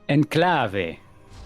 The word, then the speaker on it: Enclave: Enclave. Enclave. Oh, enclave. Oh yeah, I remember because we accent everything on last syllable.